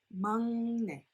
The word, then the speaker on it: 막내: The youngest member of the group is called 막내, but it's not pronounced as 막내. However, it's pronounced as 막내, 막내, 막내.